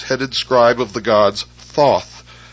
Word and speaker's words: Thoth: scribe of the gods Thoth pronounced teh hootie the so-called Emerald Tablet